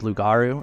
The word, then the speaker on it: Lugaru: of uh lust and lugaru or lugaru apparently luguru is how you say it because it's comes from French oh really yeah it means werewolf in French I think interesting okay but I'm